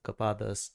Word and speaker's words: Copados: Yep, Copados, just like I pronounced it.